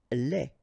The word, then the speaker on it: lait: Lait. Un lait. Okay, so the only difference is the final thing here, D, you don't pronounce it, T, you don't pronounce it, so phonetically you only have this lait.